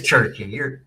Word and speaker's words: Cherki: pronounce his name? I don't know. It is Cherki.